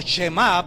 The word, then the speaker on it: Shemá: lo que traducido del chamá o shemá para mejor pronunciación es el oír Oye